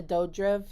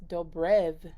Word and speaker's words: Dobrev: it's been on my list for a while and i saw that it has nina dodriv in it dobrev dope roof it's dobrev i've been saying it wrong i don't know anyways